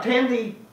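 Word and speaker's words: Thandie: taunting uh i like to say tandy yeah tandy newton yeah it used to be people who pronounce the wii at the end of the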